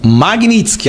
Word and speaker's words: Magnitsky: Magnitsky, a pronúncia correta, tá?